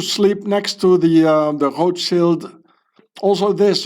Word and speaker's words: Rothschild: Uh, I used to sleep next to the the Rothschild. Also this Rothschild, I pronounce it the original German way.